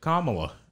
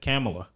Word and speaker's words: Kamala: have went off because judge sotomayor said her name wrong she said kamala no he saw she said kamilah how did she say it she said it wrong italy and then kamla